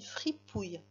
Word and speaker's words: fripouille: Alors, free, la syllabe free, qui s'écrit F-R-I, comme ça s'entend. Free. Puis ensuite, on avait la syllabe pouille. Pouille, qui s'écrivait P-O-U pour faire le pou, bien sûr. Et ensuite, ça finissait par le son I.